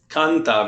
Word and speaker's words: canta: Canta, very good. Canta, la familia canta. Now be careful, Andrew, when you say canta, make sure you put the stress on the right place.